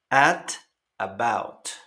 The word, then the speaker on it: at about: En pronunciaciones, sobre todo la americana, claro, la T suena como una R suave entre dos vocales.